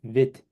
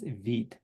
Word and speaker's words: Vite: Vite, French word for quick, pronounce it Vite. It's not Vite, okay? It reads as a Vite, but pronounced as Vite.